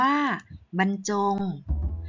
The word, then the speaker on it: บรรจุ: บรรจง ออก เสียง ว่า บรรจง หมาย ถึง ตั้ง ใจ ทำ อย่าง ประณีต เช่น บรรจง เขียน บรรจุ ออก เสียง ว่า บรรจุ หมาย ถึง ใส่ ลง